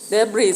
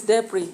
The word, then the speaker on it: debris: And some of you read it as debris. Remember, it's tasted in paper 1. It's debris. That S is silent.